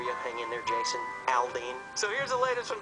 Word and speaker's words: Aldean: It's Jason Aldean. That's right. And make sure you pronounce it right, because he gets very, very upset if you mispronounce his name.